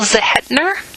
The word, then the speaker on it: Zehetner: time um yeah um is your last name still zahedner is that did i pronounce that right yes z-e-h-e-t-n-e-r and um